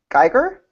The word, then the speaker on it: Geiger: I didn't ask you how to pronounce it. Geiger? Yeah. That's right, Geiger, okay.